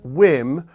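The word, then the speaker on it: WiiM: Is it pronounced whim or is it pronounced whim? I've been pondering this for a couple of months, but finally I have a definitive answer for you. It's Whim. And I know this because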